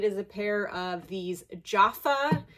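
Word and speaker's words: Jafa: It is a pair of these Jaffa, I think that's how you say it, J-A-F-A, platform sandals.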